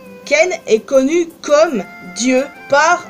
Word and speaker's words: Cain: Déjà, premièrement, Cain égale Caïn, parce que en anglais, le nom Caïn se prononce Ken.